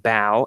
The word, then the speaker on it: bough: But I looked it up, and it's pronounced bow, and it's not the bow of a ship.